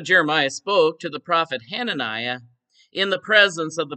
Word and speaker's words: Hananiah: Hosanna, one of the prophets, took one position, and Jeremiah took another position. I mispronounced his name, Hananiah.